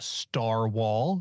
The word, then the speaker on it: Starwall: You can listen to me on Campaign Skyjacks and Starwall, spelled like narwhal, which is both publicly available, and also there are way more episodes on Patreon.